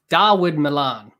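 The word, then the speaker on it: Dawid Malan: Darwood Milan. That's how you say it. What is this spelling and his pronunciation?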